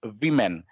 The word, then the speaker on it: women: So, and I just want to correct, like the word woman, that's that spells as woman, and when we pronounce the plural of woman, it's women, that's Women. women.